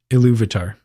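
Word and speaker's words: Ilúvatar: These were the 14 Aenir created by Iluvatar, I think is the proper pronunciation, who actually helped sing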